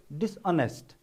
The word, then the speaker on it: dishonest: i gave you example for example dishonest we pronounce honest loud okay dishonest dishonest okay so we practice stress